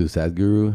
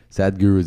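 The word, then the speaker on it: Sadhguru: I was listening to sadguru who gets a heard of him or sadly yeah I think that's the way you say his name it spelled s ADH and then guru Oh probably I mean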